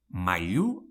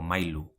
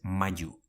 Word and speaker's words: mailu: or milla, never miya mailu: maillu o mailu, never mayu bila: Billa or bila,